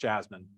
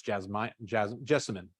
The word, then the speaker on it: jessamine: Now, little fun fact: If it's not a true jasmine, which is jasminum, it's not pronounced jasmine. It's jessamine.